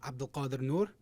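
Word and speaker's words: Abdulkadir Nur: Next, I'd like to introduce the plaintiff in the lawsuit, Abdul Qadir Noor. Abdul Qadir is spelled Abdulkadir. Noor is spelled Nur.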